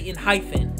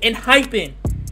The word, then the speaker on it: ENHYPEN: this group's name wrong I always say inyen but the group's name is in hyen that's how you know